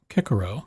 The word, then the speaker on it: Cicero: could criticize your pronunciation because of course in ancient latin all the seas were hard so it would be kekuro but that's beside the